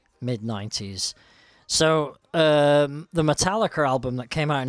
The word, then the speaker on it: Metallica: Clap your hands and jig about to Metal Liquor. But I have to I have to correct you there. The actual pronunciation is Metallica.